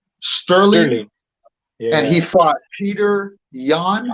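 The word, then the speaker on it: Petr Yan: And he fought Peter Yan. Is that how you pronounce it?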